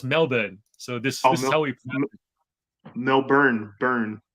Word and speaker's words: Melbourne: it I'll do it politely apparently Melbourne it's pronounced Melbourne so this is Melbourne burn okay yes what I'm saying no no burn Melbourne what do I saying Melbourne it's spelled Melbourne it's annoying but it's Melbourne I never I never knew that no Melbourne